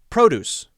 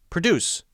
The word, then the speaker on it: produce: example if I say produce produce same spelling PR OD UC e produce produce if you say that wrong incorrectly you put the stress on the wrong syllable the wrong part of the word you will be misunderstood